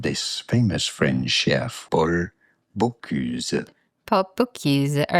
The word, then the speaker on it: Bocuse: One of the latest contributors is Chef Paul, Bocuse? Bonjour, we are looking at how to pronounce the name of this famous French chef, Paul Bocuse.